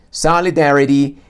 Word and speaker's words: solidarity: Solidarity es sa en dea, como esos dos componentes que sobresalen como picos en la pronunciación y le dan ese ritmo.